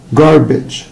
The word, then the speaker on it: garbage: garbage، garbage. طبعا هنا ال A هتنطق short I. garbage، مش garbage ولا garbage، it's garbage، garbage.